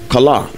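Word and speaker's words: chalah: a h c h a l a h kala correctly pronounced that way it means to to be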